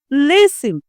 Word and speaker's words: listen: Listen the T is silent.